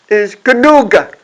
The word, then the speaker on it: genug: And the German word is genug.